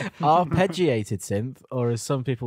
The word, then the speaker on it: arpeggiated: opener I like the arbitrated synth or some people would call it yanny I said it wrong didn't I yeah you did arpeggiated synth or as some